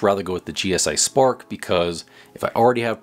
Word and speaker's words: SPRK: The Eureka SPRK Plus, which I believe is just pronounced Spark.